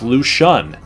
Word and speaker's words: Lucien: It's actually pronounced Lucien. He's a French-born player that played football in France all the way through high school, where he broke passing records and sack records on defense as defensive end.